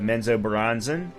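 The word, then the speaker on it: Menzoberranzan: raised by lost cult in the city of menzo bronzen these drow and bought and by the way I did pronounce that correctly uh these trial embody the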